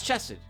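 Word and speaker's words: Chesed: prefer things being casual my name's chested or chest i think chesson is the right way to say it though i'm the head of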